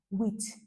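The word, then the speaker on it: huit: sweet it is spelled here h ui t with but it is pronounced wit that's why I use the examp your wit your wh h e a t in English language eight with nine nerf nerf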